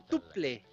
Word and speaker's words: Tuple: Vamos con Topple, o en digamos en finlandés, Tuple. Okay. Tiene varias maneras de pronunciar, en especial porque acá es Tommy Tuple Salmela el que nos trae este disco.